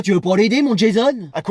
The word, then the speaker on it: Jason: Bonjour Jason. Ouais, ça se prononce plutôt Jason comme à l'américaine.